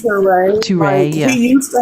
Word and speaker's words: Touré: Oh, yeah, it's pronounced Touré.